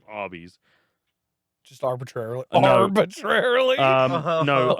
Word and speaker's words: Arby's: Instead, they chose the name Arby's. Just arbitrarily. No. Arbitrarily? No. Arbitrarily? A phonetic pronunciation of the letters R and B, short for Raffle Brothers, who were the owners.